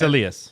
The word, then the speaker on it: Elias: laugh at was um we say Elias lyol it's Alias and Alias peton oras